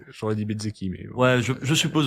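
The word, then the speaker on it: Bezzecchi: Thaïlande et c'est Marco Bzeci. Euh le Je vu comment je l'ai prononcé, ça fait pas très italien mais il est italien. J'aurais dit Bzzeki mais ouais, je je suppose aussi.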